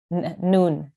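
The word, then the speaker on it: نون: Do you remember how we would pronounce this? Bun. Nun.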